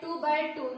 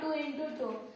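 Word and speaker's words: 2×2: We pronounce it like 2 by 2, not 2 into 2.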